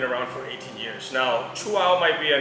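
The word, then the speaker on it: Chuao: you a little guideline so you chew and then you say wow i would like to say like if it's not a wow it's not a chihuahua so this is the way you can pronounce the name correctly now chua is a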